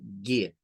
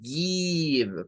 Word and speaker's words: give: Y vamos a decir give, give. No es give, porque si hacemos I, estamos haciendo el sonido de este.